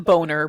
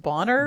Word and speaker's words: Bonner: Well, she calls him Boner, but I think that it's actually pronounced Bonner. Bonner, the way it's spelled.